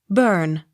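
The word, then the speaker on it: Bourne: e burke b o u r n e burn b o w l e s bowls b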